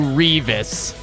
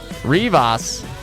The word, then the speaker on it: Rivas: But Chris Rivas was, you know, of Mexican descent. That was how he pronounced it. Revis. He would be so insulted by that, Bill. I'm telling him. Bullet called you Revis. Oh. No? Rivas. For sure. I think that was more just DoD players pronouncing it bad.